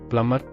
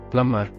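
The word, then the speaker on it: plumber: letter B ಉಚ್ಚಾರಣೆಯಾಗುವುದಿಲ್ಲ deck ಪ್ಲಮ್ಮರ್ ಕೊಳಾಯಿ repair ಮಾಡುವ cell and letter B ಪ್ಲಮ್ಮರ್ ಇದು ಇಂಗ್ಲಿಷ್ನಲ್ಲಿ cell and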